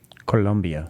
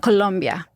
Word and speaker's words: Colombia: Colombia in South America I always want to make sure it's with an O not a u Colombia Colombia yes all right I'm